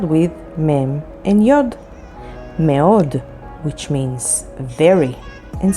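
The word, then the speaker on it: מאוד: Mi, which means who, and spelled with mem and yod. Meod, which means very, and spelled with mem, alef, vav, daled.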